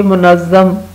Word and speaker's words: منظم: اوپر ہجے لگائیں گے تو یہ منظم، میم جو ہے وہ ساکن ہے اور میم، نون اور زوئے جو ہیں وہ متحرک ہیں.